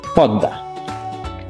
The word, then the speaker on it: পদ্মা: তবে সঠিক উচ্চারণ পদ্মা।